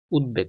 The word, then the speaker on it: উদ্বেগ: আর এটা বাংলো, মানে এটার উচ্চারণটা একটু ব্যতিক্রম, রসু দ, উদ, বেখার বে, গ, বেগ, এখানে জাস্ট হর্ষন্ত দিয়ে দিবা, দ আর ঘরমে, উদ্বেগ, উদ্বেগ মুখস্থ করে ফেলবে এটা।